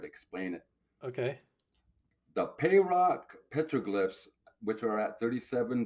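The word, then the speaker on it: Pahroc: p a h r o c that's how it's spelled if I remember right there it is pay Rock Summit oh the the Patrick list on that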